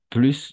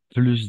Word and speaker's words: plus: Cuando viene seguido de un adjetivo, va a ser solo vamos a pronunciar plus. ¿D'accord? Un adjectif o un adverbe.